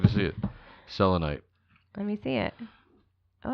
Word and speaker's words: selenite: Oh, that's selenite. Selenite. Selenite. I actually have selenite with me, which is kind of interesting.